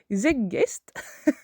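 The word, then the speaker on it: Zeitgeist: sujet qui est le Z zeggest. Ça s'écrit Z e I t g e I s t.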